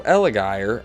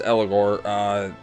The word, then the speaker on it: Eligor: Next to Eligire, is that how you say his name? I don't know. Eligor? Yeah, there it is. Eligor, in the Sector 7 Ghost Train Yard.